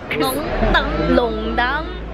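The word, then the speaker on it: 弄堂: This is a very typical like French concession, Longdang Street. Longdang. That's how you say it in Shanghai.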